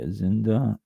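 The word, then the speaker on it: azienda: I've bad those ainda a z i e n d a a Zinda it's Italian term for estate and I think we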